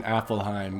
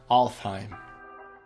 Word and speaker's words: Alfheim: In this video, I keep saying Affelheim when I know that in fact it is pronounced Alfheim.